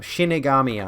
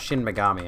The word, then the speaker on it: shinigami: working their way up shinigami eyes not shin megami eyes that's how it's spelled um wait cinebrook hello